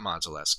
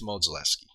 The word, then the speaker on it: Modzelewski: week type thing, and they pronounced it Modzelewski, and it's not Modzelewski, it's Modzelewski, and it's almost like Modzelewski.